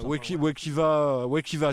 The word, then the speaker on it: Wekiva: Wekiva, si on prononce en français.